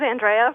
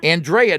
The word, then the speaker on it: Andrea: Hi, this is Andrea from Durham, North Carolina. Andrea, not Andrea. No, it's Andrea. That's the Italian pronunciation.